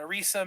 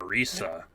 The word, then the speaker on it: Orisa: And I became like a D.Va main and a Orisa main, and like I was a tank main. Not Risa. What? Not Risa. Orisa?